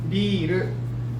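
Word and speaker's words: ビール: This one also super slow, biru instead of R. There's no Japanese R and L in Japanese language. So forget about L and R. Just go ru, like very strong. Biru.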